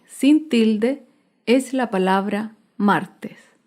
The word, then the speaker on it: martes: tilde es la palabra martes martes se acentúa en la penúltima sílaba pero no lleva tilde porque terminan s martes las palabras esdrújulas